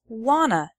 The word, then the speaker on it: want to: a party on friday want to becomes wanna i wanna go out tonight they don't want to be late he